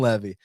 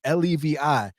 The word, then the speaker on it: Levy: Use promo code Levy, which is my last name, not like Natan Levy. It's spelled like Levi Jeans, Levi.